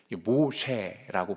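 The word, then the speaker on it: מֹשֶׁה: 원래는 사실은 모우세스라고 합니다. 자, 이해하셨죠? 물에서 건짐을 받다. 후에 이제 히브리인들이 발음이 좀 어렵잖아요. 저희도 어려운데 모우세스, 모쉐라고 부르기 시작했거든요. 그러니까 발음을 따라서, 그들의 발음을 따라 모쉐라고 해요.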